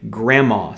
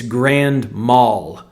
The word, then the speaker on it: grand mal: People used to say grandma seizures as if it's a seizure that a grandma has.